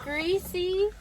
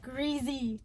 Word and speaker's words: greasy: He doesn't say greasy. Greasy is spelled with an S, okay? He says greasy with a Z. There's no Z.